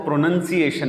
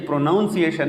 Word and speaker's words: pronunciation: में इस्तेमाल होता है वो प्रनंसीएशन है प्रनंसीएशन कुछ लोग उसको प्रोनाउंस कहते हैं ये प्रोनाउंसीएशन नहीं है उसको जो वर्ब है जो फेल है वो तो प्रोनाउंस है लेकिन इसका जब ये नाउन बनेगा प्रनंसीएशन तलाश तो उसको प्रनंसीएशन कहेंगे प्रोनॉन्सिएशन नहीं कहेंगे अच्छा नेक्स्ट है सब्जी